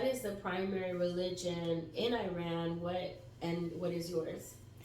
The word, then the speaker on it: Iran: me ask you this too how do you pronounce Iran is it Iran or how was what's the way to pronounce it happy Friday everybody it is pronounced Iran that's right but a lot of people say